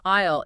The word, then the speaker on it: aisle: It has a silent A, it has a silent S, and a silent E.